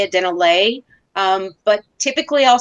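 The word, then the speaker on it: Dennerle: calendar and also a Dennerla towel or an aquarium plant guide from Denner. How do you say it? You don't say Dennerla. You say Dennerla. I go between. I say Dennerla because I hear videos and I hear other people.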